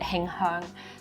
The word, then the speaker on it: Him Heang: In Cantonese, we call it Him Heang.